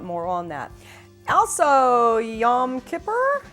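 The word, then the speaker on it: Yom Kippur: on on that also yam Kipper is that how you pronounce it yes it is well that's really cool you know you don't have to be Jewish to understand the symbolism of yan ker is it Kipper or korap both way well I'm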